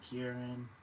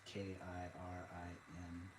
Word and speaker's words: Kirin: Qilin or Kirin. Chinese, or I'm not sure if it's Mandarin or Cantonese, but it's Qilin. There's no U in it for some reason. But in Japanese it's Kirin. So like in Japanese the R's are kind of sound like L's.